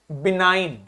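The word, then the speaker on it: benign: BN, आई लिखा है, आई के ऊपर देखो कैप लगी है। जब भी आई के ऊपर कैप लगती है उसका प्रोनाउंसिएशन आई हो जाता है, तो इसका मतलब हो गया, क्या बोलेंगे इसको? बिनाइन। ठीक, इसको देखिए बे, अब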